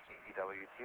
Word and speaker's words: DeWet: That's my name is spelled D-E-W-E-T, but it's pronounced DeWet.